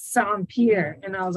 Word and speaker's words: Saint-Pierre: He's like, okay, it's like sand and like a pier, like when you go to the boats. And so he's like, it's Saint-Pierre.